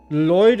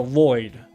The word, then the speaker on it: Lloyd: Lloyd is pronounced with one L sound. So Lloyd. Lloyd, right?